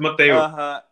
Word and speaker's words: Mateus: Because when you said your name, I could hear I noticed that cariocas normally pronounce the S like sh, and you said Mateus.